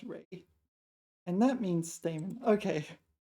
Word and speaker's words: 蕊: Oh, and it's not pronounced sin, it's pronounced Ray.